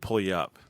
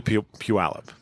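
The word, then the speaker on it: Puyallup: and a half that I lived there I pronounced it pul up yeah cuz isn't that where um what's his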